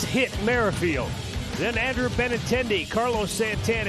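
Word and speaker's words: Whit Merrifield: today they tell us the W is silent it's hit marfield then Andrew benintendi Carlos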